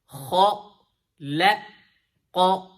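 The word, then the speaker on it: خلق: So basically, now in this example, the smiley face letter is kind of sandwiched between the two heavy letters. So see how you're going to say it. Kha, la, qa, kha, la, qa, kha,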